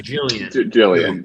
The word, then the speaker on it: Gillian: Australian in me, but is it Gillian or Gillian? It's Gillian. Gillian.